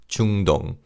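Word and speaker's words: 중동: middle and this is so to say middle east in Korean we say chunong chungdong so chunong literally means middle same as the English name.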